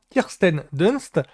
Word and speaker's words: Kirsten Dunst: kend Kirsten DST C je crois que je prononce bien Kirsten Dunst c'est c'est Mary JSON dans les premiers Spiderman